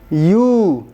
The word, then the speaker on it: ewe: What it is written, we do not pronounce. We pronounce it differently. It is U.